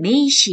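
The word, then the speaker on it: 名詞: 어떻게 하는지 한번 살펴보도록 할 건데요 일본어로 명사는 메이시 이라고 합니다 메이시 메이시 아시겠죠 이명자 감에 이루 발음 되구요 살짝 아씨 1호 바람 되요 그래서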